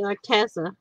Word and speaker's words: Arteza: A lot of people say Arteza.